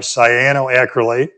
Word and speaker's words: cyanoacrylate: And if you're going to, I think, turn bowls, you got to have cyanoacrylate, CA glue, in your shop.